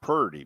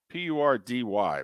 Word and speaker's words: Purdy: we got Brock Purdy p-u-r-d-y by the way pronounce it accordingly you're giving Brock Purdy